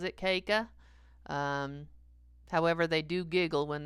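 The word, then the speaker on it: Caka: My last name is spelled C-A-K-A, pronounced Keika. Nobody ever pronounces it Keika.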